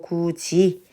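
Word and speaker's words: 굳이: 구디가 아니고 구지.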